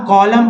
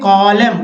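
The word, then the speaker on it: column: या कॉलम पढ़ेंगे, एन लिखेंगे जरूर लेकिन पढ़ेंगे कॉलम, कॉलम मीन्स स्तंभ।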